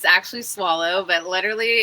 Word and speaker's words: Soileau: and following your instincts is our guest Shelby Soyo. Is am I pronouncing it correctly? It is tricky. It's actually swallow, but literally it's 1%.